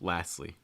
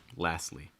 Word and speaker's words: lastly: quick note on lastly notice that that t is usually not pronounced lastly lastly a quick note by